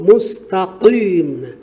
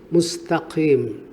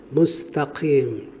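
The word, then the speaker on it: مستقيم: Ihdinas siratal mustaqim. Padahal standar pengucapan huruf qaf tidak seperti itu. Kita letupkan keluar qaf, mustaqim.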